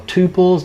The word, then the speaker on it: tuple: Swift it has and you'll hear this pronounced different ways you'll hear these pronounced tuples or tuples lots of different arguments at the moment as to which way it is I'm just gonna go with Tuple for now and you can all